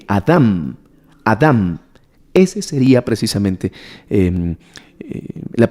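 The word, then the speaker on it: אדם: en la pronunciación sería adam así con un acento en la segunda y con m adam adam ese sería precisamente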